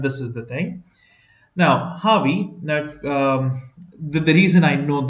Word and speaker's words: Javi: It's Harvey, J-A-V-I, but generally it's pronounced as H, Harvey.